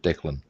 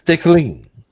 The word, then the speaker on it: decaling: Oh my God, I pronounced it correctly. Who would have thought? My mum would have kittens if she ever heard me pronouncing it Declan. That's decaling, or however she wished it should be pronounced.